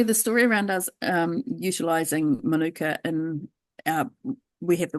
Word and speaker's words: Manuka: Also, like Manuka honey, am I pronouncing this right? Yeah, Manuka honey.